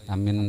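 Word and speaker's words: آمين: Amin itu artinya kabulkan ya Allah. Amin gitu. Bacanya alifnya itu 4 harakat, minnya itu 2 harakat. Amin cukup. Yang penting kedua-duanya panjang.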